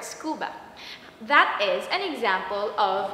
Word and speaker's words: scuba: underwater breathing apparatus but we pronounce it like a word really a word scuba that is an example